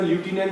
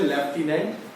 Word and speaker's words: lieutenant: ल्यूटिनेंट जो है वो अमेरिकन में ल्यूटिनेंट बोलते हैं और ब्रिटिश में लेफ्टिनेंट हमारा प्रोनाउंसिएशन होता है।